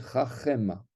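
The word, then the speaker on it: חכמה: Eh bien, le Sheva qui est précédé d'un métek, donc le Sheva du Chaf, il est précédé devant lui, donc il y a un métek, eh bien, on va prononcer Chachema.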